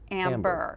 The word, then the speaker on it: Ambear: She calls them Amber, and it's A-M-B-E-A-R, but it's pronounced Amber.